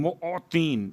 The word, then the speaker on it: معطین: یا خیر المعطین، معطین میم عین توئیں یہ نون معطین موتی. اب چونکہ اگر تلفظ میں غلطی ہو جائے تو بات کہیں اور پہنچ جاتی ہے.